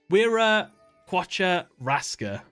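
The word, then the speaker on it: Wiraqocha Rasca: Wira Quacha Raska. That's the proper way to say their names.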